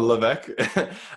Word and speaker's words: Levesque: Is it like French, like Levesque? That is the most like francophone way I've heard it in a long time.